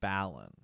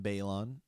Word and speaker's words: Balon: Martin, he calls him Balon. Yeah. Which is really interesting. We've been blasted before for our pronunciation of characters. Like the show does it one way, the audiobooks do it another way, George does it another way, and so we will be calling him Balon.